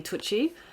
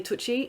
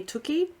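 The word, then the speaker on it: Tucci: The first book I want to talk about today is Taste by Stanley Tootie. I'm so sorry. I think his surname is built is pronounced Stanley Tuchi. It could be Stanley Tuki.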